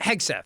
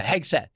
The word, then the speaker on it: Hegseth: Did I pronounce that right? Hegseth, yeah. Yeah, Hegseth.